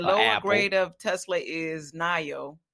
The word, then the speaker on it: NIO: I've been Neo, pronouncing it yeah. Neo, but somebody said it was Nio, so I guess it is. But you know what? I didn't double check that myself, but it's Nio.